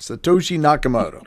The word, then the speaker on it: Satoshi Nakamoto: nakamoto and i hopefully i got it correct satoshi nakamoto pretty good yeah and let's see good pronunciation yeah that's right and so now we